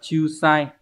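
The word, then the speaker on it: 仲裁: Câu số 2 chúng ta có từ này là từ Chiusai, đọc là Chiusai, hán tự là trọng và tài.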